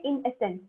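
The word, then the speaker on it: i.e.: इसको अपन बचपन say that is बोलते हुए आए हैं, पर वो सही प्रोनाउंसिएशन नहीं है, वो सही तरीका नहीं है बोलने का. इसको बोलते हैं इन एसेंस. तो अगर किसी सेंटेंस के बीच में आपका ये आता है तो आप इसको इन एसेंस प्रोनाउंस करोगे, जैसे कि हम ईटीसी को ईटीसी नहीं बोलेंगे, हम एक्सेट्रा बोलेंगे। सिमिलरली आई को आप इन एसेंस बोलोगे, ठीक है।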